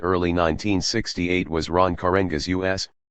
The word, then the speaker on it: US: The most influential organization in the Black Congress in late 1967 and early 1968 was Ron Karenga's U.S., pronounced us, as in not them.